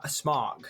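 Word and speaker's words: Smaug: for a little while it's pronounced SM smog like the like smog in in Smokey smog the name smog came from the men Hobbits and the name Sauron is quenan completely different language rules using sauron's pronunciation as a basis for smog is wrong so it's a very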